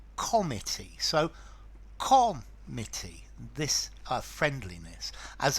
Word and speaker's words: comity: Now, the pronunciation of comity is different from committee. A committee is a group of people delegated to perform a function, but this is comity.